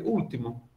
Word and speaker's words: último: Não, eu pronuncio, a minha pronúncia do L, ela é muito, muito fraquinha.